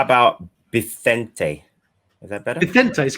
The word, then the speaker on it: Vicente: Vicente is correct, yeah.